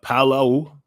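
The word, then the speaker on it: Palau: on my last channel that you know uh Palo that's how you pronounce it was doing a pilot project with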